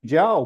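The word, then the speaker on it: Zhou: were referred to as the ja people people of Ja and it's spelled um Z hu and so that was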